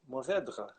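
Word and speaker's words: Mourvèdre: I'm afraid to say it like that. Mourvedre. And it's kind of, you know, that kind of guttural R that the French Yeah. have, like the back of the mouth R tongue thing.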